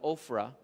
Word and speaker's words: Ophrah: Mauni pag-pronounce nila Ophrah. Pero sa ato diri Oprah, kami nagpuyo sa Oprah. Pero dili ing ani nga spelling sa Barangay Kalunasan.